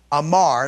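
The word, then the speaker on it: אמר: Now, in Hebrew, the word amar, aleph, mem, resh, amar is how we pronounce that, is the Hebrew word for speaking.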